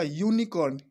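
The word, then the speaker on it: unicorn: यूनिकॉर्न, यहाँ पे भी है, तो ये क्या है? यू क्या है? वावेल है, बट इसको जब प्रोनाउंस करेंगे तो ये कैसे होगा? ये ऐसे यू प्रोनाउंस होगा, इसलिए इसके पहले भी क्या होगा?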